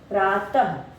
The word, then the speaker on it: प्रातः: उसके बाद ये हो गया प्रातः, जब हम प्रातः बोल रहे तब भी हमें अंत में ह की ध्वनि सुनाई दे रही है।